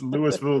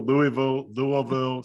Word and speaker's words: Louisville: It's pronounced 8,000 different. There's actually a shirt that has like 15 pronunciations. I know. I was gonna ask, and I was like, that should be this. This should be right. It's Louisville, Louisville.